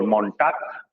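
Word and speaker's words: Montag: मोन्टाग, या प्रोनाउंसिएशन साथ में देखना, टीएजी का साउंड क्या था, टाक, और मोन्टाक, मोन्टाक।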